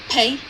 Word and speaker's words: pay: A slight h is heard after the explosion of p and before the beginning of the vowel. For example, if we pronounce pay, it is just like we are saying hey. as if there is h between p and a.